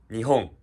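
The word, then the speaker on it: 日本: نيهون. نيهون. نيهون. تقدر تقدر تقول. تلحق علي. نيهون يعني repeat after me يعني. نيهون هذا معناها اليابان. نيهون مو مثل اليابان، نطق نفسه مو مثل نطق نفسه.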